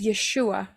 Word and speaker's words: Yeshua: Ayin yodin W Ain yang yang diucapkan adalah yesua and the pron pronunciation is yeshua Mengapa yahwe menjadi manusia